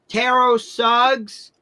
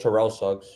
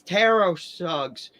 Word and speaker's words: Terrell Suggs: Tro tero suggs because to pronounce his name properly is tero suggs. Teros suggs. Thank you. I thought it was always Terrell Suggs. It's Teros Suggs.